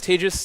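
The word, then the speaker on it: Tejas: Uh as he mentioned, my name is Tis. That's pronounced like contagious.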